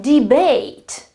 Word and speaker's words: debate: The verb debate. Debate. I certainly pronounce ate.